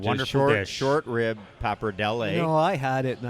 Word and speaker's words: pappardelle: Speaking of, is it pappardelle or pappardelli?